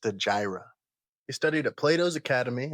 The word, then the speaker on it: Stagira: Future me here, it is pronounced Stagira.